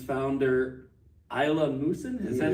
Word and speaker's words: Ilya Musin: the Leningrad School of Conducting and its founder, Ilya Musin? Is that how you say it? Yeah. Ilya Musin.